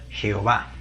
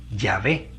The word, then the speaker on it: Yahvé: verdadera pronunciación del tetragrama, y creándose la forma que todos nosotros conocemos como Jehová, en lugar de Yahvé, como muchos eruditos han concluido que sería la correcta pronunciación del nombre de Dios.